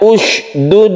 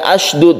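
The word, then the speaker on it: اشدد: Jadi, membacanya sebagai usdud adalah cara yang benar. Usdud bihi azri. Bukan asdud , ya.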